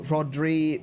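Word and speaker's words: Rhodri: So Rodri Maddox. Uh, so there wouldn't be a Kra. Yeah, you kind of say the H first even though the the R comes first.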